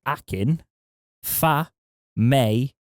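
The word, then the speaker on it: Akin Famewo: in the news now actually we've got a pronunciation edit here apparently it's akin fa mei whoa fami world hackin faye may whoa no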